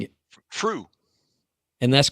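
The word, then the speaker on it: Früh: It's Fruh. I'm probably pronouncing it Fruh.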